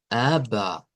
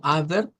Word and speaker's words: aber: Y así lo encontramos esto como ABBA, ABBA. Entonces no es como ABER, como pensaríamos que vamos a leer la R, sino como ABBA.